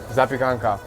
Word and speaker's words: Zapiekanka: Zapiekanka.